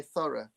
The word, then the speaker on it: thorough: Uh, see, I even because my natural way of saying that because I'm from Portsmouth is thorough, but I'm going to say thorough because I'm going to pronounce it correctly. But we would turn every th into an f here if we weren't careful.